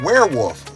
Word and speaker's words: werewolf: But what about werewolf? Where does that word come from? If you look at the spelling, it really should be pronounced werewolf. Because the last time I checked, that's how you spell were.